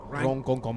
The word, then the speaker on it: Ronkonkoma: me pronounce it properly. Ronkonkoma. I was pronouncing it the way that they used to pronounce it.